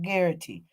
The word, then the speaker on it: Garrity: It's called Garrity. That's how you pronounce it.